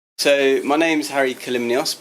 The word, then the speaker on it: Kalymnios: So my name's Harry Kalymnios, pronounced Kalymnios. It's a tricky one to pronounce.